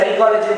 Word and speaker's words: psychology: இப்போ for example சைக்காலஜி பாத்தீங்கன்னா நீங்க ப்ரொனவுன்ஸ் பண்றது சை எஸ் தான் வரும். ஆனா P is silent in சைக்காலஜி.